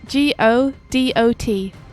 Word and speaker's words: Godot: how'd you spell it g-o-d-o-t go dot i think it's pronounced godot did we ever get